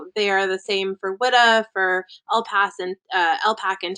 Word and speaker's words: WIDA: Is it WEDA? WIDA. Yeah, I always say WIDA.